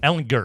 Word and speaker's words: Ellinger: Ellinger. Is it good? It's a hard G.